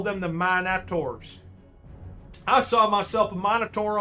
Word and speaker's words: Minotaurs: to be careful now we pronounce the i in the minotaurs a short eye here in the states at least in new england oh okay i've been